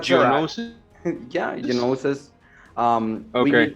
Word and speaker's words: Geonosis: I don't know how to pronounce Yeah. that. Genosis. That's all right. Geonosis.